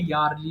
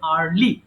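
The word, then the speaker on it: early: ইয়ারলি বলে এটা ভুল করে অনেকে ইয়ারলি বলে সো এটা হবে আর্লি সো আমি আবার বলছি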